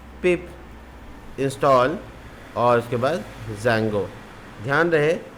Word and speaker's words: Django: Open in terminal, और इसमें लिखेंगे python-m pip इंस्टॉल, और उसके बाद ज़ैंगो। ध्यान रहे डी कैपिटल रहेगा, ठीक है। डी ज़ैंगो नहीं बोलते हैं, ज़ैंगो बोलते हैं, डी साइलेंट हो जाता है।